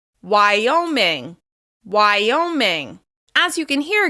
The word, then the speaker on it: Wyoming: Wyoming is stressed on the second syllable. Wyoming. Wyoming.